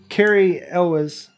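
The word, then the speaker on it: Cary Elwes: Carrie Elwes. Carrie Elwes. I heard somebody pronounce it Elwes.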